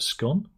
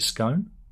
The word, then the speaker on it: scone: the correct pronunciation of scone or is it scone well there's an easy way to remember this what's the fake fastest what's the fastest cake in the world it's gone and I say you